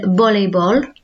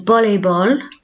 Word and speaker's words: voleibol: Now remember, a V is pronounced more as like a soft B sound in Spanish, so el voleibol. El voleibol.